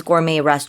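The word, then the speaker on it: gourmet: stars at restaurant 그래요 발음을 을고메이라고 한다는 거 기억해 주세요. 프랑스어이다 보니까 T로 끝나지만 T 발음하지 않습니다.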